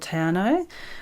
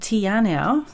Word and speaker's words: Te Anau: Grew up in Fiordland in a beautiful little town called Te Anau, which I called Te Anau for most of my life because I didn't know any better.